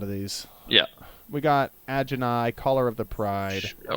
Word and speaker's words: Ajani: We got Agenai, Caller of the Pride. I would have moved quicker. Agenai. Well, how do you pronounce it? Ajani. A Johnny. Definitely a Johnny.